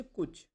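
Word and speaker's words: कुछ: আপনি কুচ কুচ এরকম টেনে বলবে না। কুচ কই? ভাওয়েল সাউন্ডগুলো ছোট ছোট হবে।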